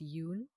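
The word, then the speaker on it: Yon: think it's Yun oh it's spelled y o n but it's pronounced Yun it's weird uh which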